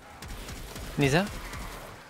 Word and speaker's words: Mesa: Mesa.